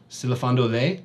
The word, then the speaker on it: Silafando le: Silafando le, Sute said, giving just the right rise to the last syllable.